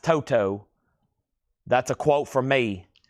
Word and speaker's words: Toto: It's pronounced Toto. That's a quote from me. VG plus 750. Toto. Not Toto. Not Toto.